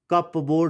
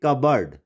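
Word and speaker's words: cupboard: यहाँ पे इसको हम कप बोर्ड नहीं पढ़ेंगे, कबर्ड।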